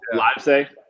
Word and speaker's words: Livesay: Ooh, Livesay. Is that how you pronounce it? Yes.